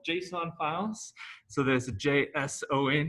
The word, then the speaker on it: JSON: files so there's a json here is pronounced uh jason like the person's name and uh then we'll